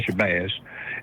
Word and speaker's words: Shabbaz: For starters, you all are pronouncing it properly. It is Shabbaz.